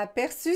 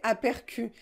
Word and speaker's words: aperçu: là c'est dit vous vous devez prononcé appercu mais ce n'est pas la prononciation normal nous devons prononcé aperçu donc nous devons utiliser